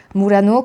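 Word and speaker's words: Murano: Je vais essayer de vous les prononcer avec le bon accent italien. Donc tout d'abord, nous avons visité Mourano que j'avais déjà vu quand j'ai été à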